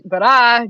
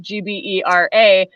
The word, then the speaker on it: Gbera: in Ghana, which is Gbera, Gbera. And number one, it's hard to pronounce. Number two, it kind of sounds like bra.